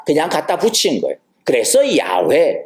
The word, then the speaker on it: 야훼: 그래서 야훼, 여호와, 야훼 이렇게 발음이 되는 거예요.